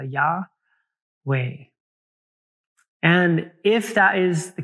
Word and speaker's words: Yahweh: interesting to knowe that the pronunciation of I am or Yahweh is one of those words one of the only words that you do not use your tongue for and you keep your mouth open for the entire time so when you say Yahweh one of the uh one of the ideas behind this is that the correct pronunciation actually might be an inhale and exhale yah way and if that is